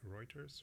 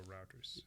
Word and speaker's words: Reuters: this piece here is from uh how do you pronounce this is right Reuters or routers or routers right some people call it writers Reuters Reuters let's go